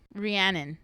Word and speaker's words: Rhiannon: How do they say her name? Rhiannon. That's how they said it. Rhiannon. That's how they said it in the audiobook, because I really couldn't